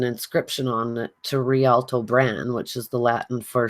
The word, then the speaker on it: Bran: called Caer Bran, and it has an E on the end of Bran, so it's sort of Brne, but it's pronounced Bran.